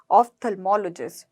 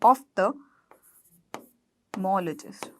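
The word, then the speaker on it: ophthalmologist: तो आप जनरली क्या बोलते हो, ऑप्थेल्मोलॉजिस्ट। ठीक है, तो इसकी प्रोनाउंसिएशन को देखना आप, OPH को हम ऑफ्थ, देखिए ऐसे बोलेंगे, ऑफ्थेल्मोलॉजिस्ट, ऑफ्थेल्मोलॉजिस्ट। ठीक है, तो इसकी प्रोनाउंसिएशन हम क्या करेंगे, OPH को ऑफ्थ बोलेंगे।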